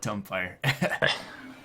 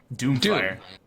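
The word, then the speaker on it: Doomfire: too funny trust me I know many nekros that call it dumire wait what is the correct pronunciation Doom fire Doom fire like Doom the the the underworld God guy yeah that guy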